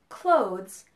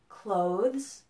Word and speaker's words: clothes: the a sound now the word clothes has an o sound and that's similar to the words nose hope low listen to those clothes nose hope and low now listen to the